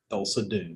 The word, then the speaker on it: Thulsa Doom: Thulsa Doom.